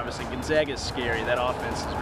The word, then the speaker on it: Gonzaga: trying to tell somebody how to pronounce gonzaga we spoke with gonzaga's president yesterday and he said just think about it they zig we zag okay yeah you know